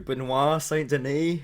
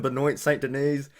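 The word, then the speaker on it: Benoît Saint-Denis: i've been calling him benoit saint denise um i might still call him benoit saint denise accidentally but i'm from new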